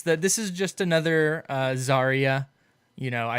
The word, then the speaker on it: Zarya: finally yeah it's that this is just another Zarya you know I said xariah for the longest time so I'll get this